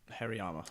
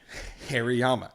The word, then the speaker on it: Hariyama: find his goddamn name Hariyama Hariyama Harry's Allah damn name the sumo wrestlers remember that Yama is very hairy Hariyama that's actually a really